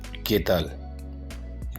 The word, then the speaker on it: Qué tal: Next word है केतल, QUE KTAL, तल, केतल, केतल।